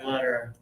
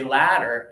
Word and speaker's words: letter: But close your teeth for this and do letter. Yeah. For this one I often talk about what happens if we don't pronounce it right. If we open too much we say ladder.